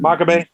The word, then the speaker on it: Makabe: Makabe?